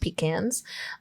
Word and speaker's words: pecans: Yes, it's pronounced pecans.